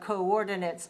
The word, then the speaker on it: coordinate: same on paper, but it's pronounced coordinate. And the sound is different in the last syllable. Both of them have the same number of syllables. Both of them have the stress on the second syllable, but the it and ate sounds are different.